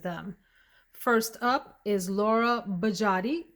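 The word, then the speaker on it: Biagiotti: First up is Laura Bajati. Thank you to the subscriber that shared with me how to pronounce Bajati. Hope I got that right.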